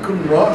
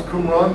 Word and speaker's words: Qumran: A lot of people can't pronounce Qumran. They try to say they do all kinds of things with their lips. They purse their lips and things like that. It's just Arabic is a Q k sound, a k sound.